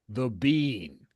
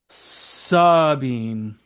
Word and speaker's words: Sabine: The Bean. She's the No, Bean. no. Sabine. Two syllables. Not the bean. Sabine.